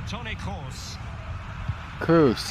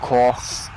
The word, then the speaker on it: Kroos: that's the read nothing Toni Kroos not cross Toni Kroos femme learn to pronounce his name okay what you're